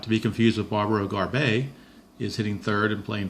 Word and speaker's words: Garbey: sixth is barbaro garbey not to be confused with Steve Garvey for the podrace it's barbaro garbey as how it's pronounced kidding in the seventh